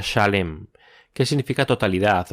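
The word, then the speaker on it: שָׁלֵם: sí puedo oír eso en hebreo Salem se pronuncia shalem Qué significa totalidad o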